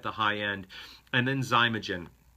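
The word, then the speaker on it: Xymogen: high end and then zymogen that name is spelled x y mo g en x y mo GE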